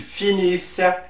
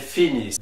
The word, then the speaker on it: finissent: And for the last one, the ENT is not pronounced, it is silent like a regular silent E. So we will say ils finissent, elles finissent.